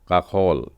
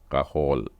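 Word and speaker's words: כחול: ज सेवा का खल ख का उच्चारण फिर से एक बार बताऊं कि खरगोश वाला ख ना बोले इसको गले में थोड़ा पीछे से निकालने की कोशिश करें का होल बाइबल में से एक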